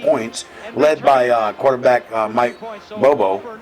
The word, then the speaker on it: Bobo: Auburn scored like 20 straight points, led by quarterback Mike Bobo. Bobo, did I pronounce that right?